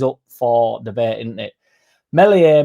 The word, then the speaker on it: Meslier: Melier, melier, silent Esenabache.